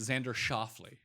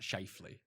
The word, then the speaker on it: Schauffele: It's like it's Xander Schauffele. Not Scheifele. What's that?